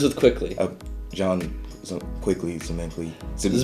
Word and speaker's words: Zmikly: Jon Zmikly. Zmikly rhymes with quickly. Zmikly. Oh, okay. Or sickly. Zmikly. It's the ZM that's the hard part.